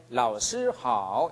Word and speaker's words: 老师好: 그래서 老师好 이렇게 하는 것입니다. 유치원에서부터 대학생까지 똑같습니다. 다시 한번 들어보십시오. 老师好. 네, 이렇게 발음합니다.